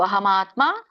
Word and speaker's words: ಅಹಮಾತ್ಮ: ಒಂದು ಉಚ್ಚಾರಣೆ ಈತರ ಬರುತ್ತೆ ಅಹಂ ಆತ್ಮ ಅಲ್ಲಿ ಮ ಹಿಂದೆ ಹೋಗಿ ವ್ಯಂಜನ ಆಗುತ್ತೆ ಅದಕ್ಕಇರುವಂತಹ ಸ್ವರ ಅ ಮುಂದೆ ಮುಂದಿನ ಪದಕ್ಕೆ ಹೋಗುತ್ತೆ ಮ ಮಾತ್ರ ವಿಚ್ಛೇದನ ಇದಾಗುತ್ತೆ ಸ್ಪ್ಲಿಟ್ ಆಗುತ್ತೆ ಅಹಮಆತ್ಮ ಕೂಡಿ ಹೇಳಬಹುದು ಅಹಮಆತ್ಮ ಗುಡಾಕೇಶ ಸರ್ವಭೂತಶಯಸ್ಥಿತಹ ಇಲ್ಲಿ ಬಿಡಿಸಿದಾಗ